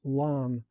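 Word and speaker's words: lame: I scored the top with a lam, pronounced lam, which created a signature sourdough ear.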